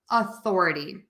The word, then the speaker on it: authority: a little bit different for Authority we're going to use that schwa that ah sound because that is the unstressed syllable so we make that vowel shorter softer and lower in Pitch so you have authority